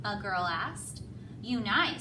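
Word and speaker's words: Unhei: "Yunai," said the girl. "One?" the girl asked, scrunching up her face. Oni? Some kids chanted. No. It's spelled U-N-H-E-I. It's pronounced Yoon-hai.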